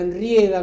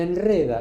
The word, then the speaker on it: enreda: se manda esa, se enrieda con la pelota. Le mandé a decir, pero se enreda. Viene de red, no de riel, de red. Listo. Red enreda.